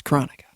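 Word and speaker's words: Kronika: It's Chronica.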